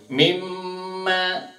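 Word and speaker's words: مِمَّا: Sekali lagi, ketika huruf mim dan huruf nun ada tasydidnya itu cara bacanya berdengung seperti ini. Mimma fama ziltum fi syakkim mimma ja'akum bih.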